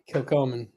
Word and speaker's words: Kilchoman: Kilchoman. Kilchoman. Okay. Kilchoman.